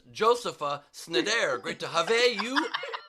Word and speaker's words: Josepha: you pronounce it, and it's just Joseph with an A at the end.